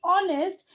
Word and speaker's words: honest: honest man why because when we pronunciate honest it sounds to start with o right in such case